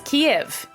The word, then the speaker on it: Kiev: of the capital it's Kiev well yes or no kiev k i v is the Russian way of saying the name of this ancient city the Ukrainian way is